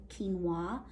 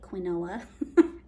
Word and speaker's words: quinoa: an ancient grain and it's called quinoa it looks like quinoa but that's not how you say it um one of the